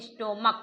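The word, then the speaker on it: stomach: English में सी एच है और हिंदी में स्टोमक पढ़ा जाएगा। तो अगर इसका उच्चारण सी एच का प्रोनाउंसिएशन का हो तो केवल एस जोड़कर प्लुरल नाउन बनाएंगे।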